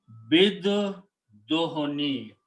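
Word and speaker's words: بالدهن: So now the recitation will be bid dohoni. That's the word in the Quran. This alif is not pronounced, so it becomes hamzatul wasl. Ba combines with the dal.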